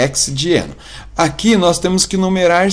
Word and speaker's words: hexadieno: Bom, para pronunciar, a gente acaba colocando o A e hexa, né? Mas é hexadieno.